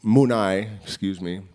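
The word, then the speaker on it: Munay: So I said the believe that the Mune, love and compassion, Munai, Quechua pronunciation.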